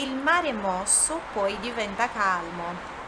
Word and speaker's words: calmo: igual, mas no italiano, quando você tem o L em final de palavra ou antes de uma consoante, você puxa esse L, tem uma outra pronúncia, olha só, calmo, cal, cal, cal, calmo, tá? Não tem o som de U, calmo, calmo, é calmo, calmo, ok?